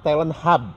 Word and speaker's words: Talent Hub: hub itu sebagai pusat Oh Jadi dibacanya Talent hub Bukan Talent H Ses Talent hubnya ada